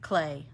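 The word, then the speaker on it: Klee: I there we go thank you excuse me clay it looks like C but it it's pronounced clay um did we do climp I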